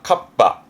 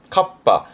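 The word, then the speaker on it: 合羽: 발음이 좀 특이합니다. 카빠. 카빠. 하에서 발음이 파가 돼서 카빠가 된 건데 카빠라는게 날개를 합쳤다는 뜻인데 요러 그림입니다.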